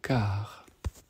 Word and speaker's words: Kar: Ça c'est la deuxième étape, et dans cette deuxième étape, on va dire car, K-A-R, donc vous le prononcez car ou car.